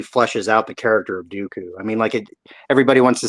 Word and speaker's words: Dooku: out the character of Dooku. I mean, everybody wants to say like, oh, his name rhymes with poo-poo, but I mean, he was a smart cat.